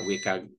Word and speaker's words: WCAG: accessible so dito na pumapasok ngayon itong ah wik or web content accessibility guidelines So from here on out ah tawagin ko na lang siyang wik kasi mas madali siyang i-pronounce Ah pwede naman